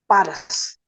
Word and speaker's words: पारस: Nation state है, और वो है पारस, जिसको वो फारस कहते हैं, कुछ उच्चारण बिगाड़ के पर्शिया कहते हैं, नाम है पारस।